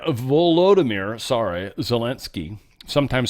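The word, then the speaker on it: Volodymyr: look into it it's going to be suck Vladimir volodimir sorry zalinski sometimes spelled with two wise depending if you use their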